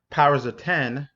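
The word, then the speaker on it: Powers of X: and then we have powers of 10 it looks like a X but they want you to pronounce it as powers of 10 and then also we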